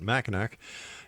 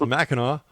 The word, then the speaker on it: Mackinac: And once again, don't make that mistake I made by calling it machin. It's macho.